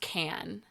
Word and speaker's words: Cannes: It is pronounced Can.